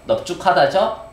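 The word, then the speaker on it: 넓죽하다: 이 밟다 할 때 밟다, 넙죽하다 이런 거 보세요. 널쭉하다예요, 넙죽하다예요. 넙죽하다죠? 널둥글다예요, 넙둥글다예요. 넙둥글다죠? 비읍으로 발음됩니다.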